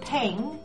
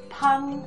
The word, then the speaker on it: 旁: It's not pronounced pang, as in a pang of conscience, but pang, as in 旁边, which means to the side of.